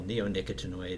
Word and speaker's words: neonicotinoid: that yeah the pron you did pretty well neonicotinoid is the pronunciation but we all just use neox for for short and it's a class